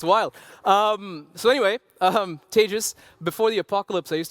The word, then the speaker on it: Tejas: My name is Tejas. That's pronounced like advantageous for those of you who have some trouble.